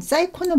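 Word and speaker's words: psycho: 하는데요 앞에다가 렇게 사이코음 사이코는 많이 들어 보셨죠 그래서요 피는 묵음이 되고요 싸이코라 어근을 사용을 보면은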